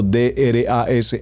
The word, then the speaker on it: drash: pronunciando remex seguidamente tenemos el drash como lo estoy pronunciando d r a sh h drash y finalmente el sot